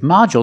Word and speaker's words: module: With module, the stress is on the first syllable. So the second syllable is short. Model. And we see the D makes the J sound like juice and jump.